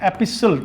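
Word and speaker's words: epistle: English में एक word है एपिसल। टी साइलेंट है इसका।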